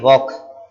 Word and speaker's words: walk: WALK वॉक, वॉल्क लिखा है लेकिन पढ़ेंगे वॉक, प्रोनाउंसिएशन इसकी वॉक होती है, वॉक। एल साइलेंट होता है, ये वाला एल जो है ना वो साइलेंट होता है।